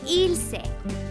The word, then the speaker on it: Ylse: find yourself saying so here's how you pronounce it think illegal and sexy IL you know how it's